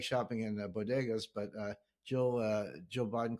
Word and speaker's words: bodegas: and uh I know I like shopping in bodegas but uh Jill Jill Biden calls him bodas you know so she can't even pronounce a simple Spanish word it's an embarrassment